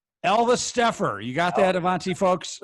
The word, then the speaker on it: Alvesteffer: So last name is Alvesteffer. Alvesteffer.